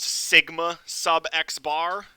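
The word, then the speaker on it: σx̄: Same thing, it's pronounced sigma sub x bar.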